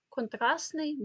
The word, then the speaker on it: контрастний: слова як контрастний баластний Я зараз вимовляю так як ви маєте писати бо у вимові воно відбувається контрасний баласний фухпосний якщо це слово Агент